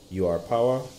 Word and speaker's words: URPOWER: our power our power a nutshell how it's pronounced well you guys can bear it me so let's just see you are power MH 501 water humidifier this is a cool